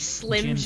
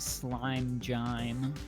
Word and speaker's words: Slim Jim: so like Slim Jims and Jim. James. Slim Jim could have gymdis. Slim Jim could have jaundice, yeah. Slime. Whenever I was in high school, I would always pronounce it slime jime.